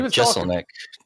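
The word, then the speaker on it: Jeselnik: I can never pronounce his last name. Oh, Jesselnick.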